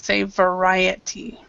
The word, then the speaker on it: variety: There was one pronunciation though that was just dead wrong, and that was variety. So we say variety. Variety.